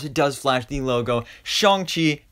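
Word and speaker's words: Shang-Chi: does flash the logo shong chi and the legend of the ten rings that's right i still remember to pronounce it right uh but i mean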